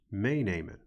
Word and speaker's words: meenemen: They are pronounced as follows: dicht doen, meenemen, ophalen, schoonmaken. Did you notice that in all cases the stress or emphasis in pronunciation was on the first syllable?